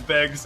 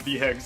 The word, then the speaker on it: Beggs: and Mars, which also, we found out we said it wrong the entire time. His name is Beggs, it is not Vhegs, and we have already